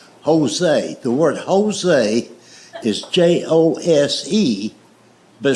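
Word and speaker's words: José: The word Jose is Jose, but it's pronounced with an H.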